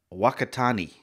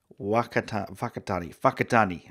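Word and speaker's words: Whakatāne: map we are near Walker Thani oh oh it's pronounced like an F the WH oh it Danny I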